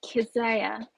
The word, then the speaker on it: Kezia: It's Kezia. Much in Kezia. The same way you pronounce Isaiah, Kezia.